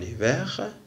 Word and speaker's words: hiver: En hiver. اون ايفر هاد الان تنسقوها مع الاي لان اش إليميت يعني لا تنطق.